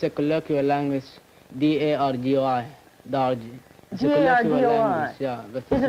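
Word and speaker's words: Dargoi: Well, how do you spell it? It's a colloquial language, D-A-R-G-O-I, Darji.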